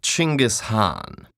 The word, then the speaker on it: Genghis Khan: on I see your honor is familiar with Genghis Khan the 13th century warlord whose military campaigns killed millions and left nothing but destruction in their wake objection first of all it's pronounced chingus Han really in Mongolia yes regardless he was one